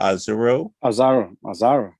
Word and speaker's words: Azaro: How do you pronounce his name? Is it Azaro? Azaro. That's what I've been calling him.